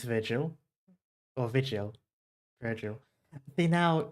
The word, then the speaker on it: Vigil: I definitely need to Vigil, there's no R. Yeah, I know. This is something about the way we pronounce it in English. For some reason, we kind of add an R into the pronunciation. We do it a lot because it's the same with Dante's Inferno. It is Vigil, but we often say Virgil for some reason.